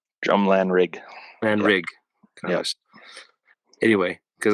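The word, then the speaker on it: Drumlanrig: of you who don't understand the Scottish language it's spelled drum g-r-u-m-l-a-n-r-i-g drum lanerg right drumland rig and rig yes anyway because I I spelled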